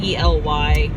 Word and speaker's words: Ely: I mean, we made it to, my family told me it was pronounced Ely, so I'm calling it Ely, Nevada. I don't know if I'm pronouncing it right. It's E-L-Y.